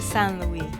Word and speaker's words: Saint-Louis: I ain't quite sure how to pronounce it, but we're on our way to St. Louis. Well, actually the locals call it San Louie.